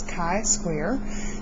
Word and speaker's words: chi-square: The Greek letter chi kind of looks like an X, and then of course we put a square on it, so we pronounce this chi-square.